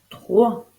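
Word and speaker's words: trois: de ne pas l'oublier 3 t r o i s o I pour former le son o on n'oublie pas la lettre muette en fin de mot c'est un S 3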